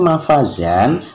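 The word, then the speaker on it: مفازا: karena termasuk Mad iwad tulisannya mafazan tapi pembacaannya Faza jam lagi seorang lagi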